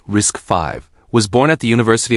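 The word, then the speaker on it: RISC-V: RISCV pronounced risk 5 was born at the University of California.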